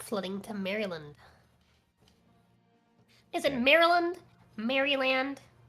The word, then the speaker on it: Maryland: I say it like an I. Maryland. Like I I pronounce it. I say M E R I land. Then like L E N. Maryland. Got it. That's how I say it.